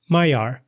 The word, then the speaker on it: Maillard: Mayar. I pronounce this word with my American English accent. And I say mayar, I don't pronounce the d still because I want to emphasize how its origins are French.